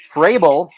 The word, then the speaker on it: Fraebel: Fraebel, FR, and sounds like or pronounced like Vrabel, Mike Vrabel.